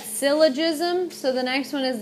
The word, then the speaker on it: syllogism: The second one, you pronounce that syllogism.